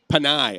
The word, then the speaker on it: Panay: Panay. Okay, I wanted to make sure I was pronouncing it right.